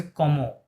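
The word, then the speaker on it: comment: এটা হচ্ছে কমো, সিওএম কম, এম ও এন অ হয়, তাহলে কমো, টি সাইলেন্ট, হ্যাঁ, কমো।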